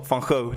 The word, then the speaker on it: van Gogh: It's funny that I pronounce his name of a Dutch painter with an American. How should you say it? What's the correct way of saying it? Vincent van Gogh, denk ik.